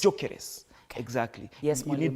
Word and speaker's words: Gyökeres: It's not Gyökeres, it's Jokeres. Kama vile, you know, kama inaitwa Chalo. It's Jokeres. Jokeres.